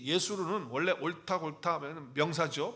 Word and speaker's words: 여수룬: 자, 여수른이라고 하는 단어는 히브리어로 예수룬으로 발음을 합니다. 예수룬 이렇게 발음을 하는데 그 뜻이 뭐냐 하면